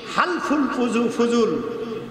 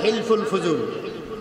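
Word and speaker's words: حلف الفضول: তার 17 তখন তিনি হালফুল ফুজুল বাংলায় লেখে হিলফুল ফুজুল কিন্তু এটার উচ্চারণ হবে হালফুল ফুজুল হলফ থেকে হালফুল হলফ মানে অঙ্গীকার বলেন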